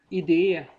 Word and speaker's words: idé: Jag vet inte, ide, idé, kanske lite bättre. Att det finns då två olika ord med olika betoning.